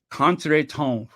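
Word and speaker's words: crouton: oh and the conton that's French conton the p is silent conton yeah I don't know when was the last time I had a cont tone but like I say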